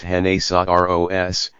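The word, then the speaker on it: genízaros: slaves frequently known as Janice arroz pronounced hen ASA R OS who were sold to Hispanic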